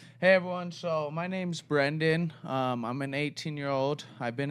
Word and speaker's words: Brandyn: We got about 30 minutes, so we're going to chat with Brandyn about his Brandyn, right? I'm not pronouncing it wrong.